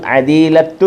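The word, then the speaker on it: عديلة: അതിന്റെ ഇതൊരു ഉച്ചാരണം ഇല്ല അറബില് അവസാനം വരുന്ന പദത്തിന്റെ അവസാനം വരുന്ന താന് ഉച്ചാരണം കൊടുക്കാറില്ല അദീല അദീല ഭാര്യ സഹോദരി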